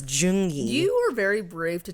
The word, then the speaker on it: Zheng Yi: in the year 1801 a man named zingy who was a i'm sorry that's not how you say it z is june i almost i forgot it's jungi you were very brave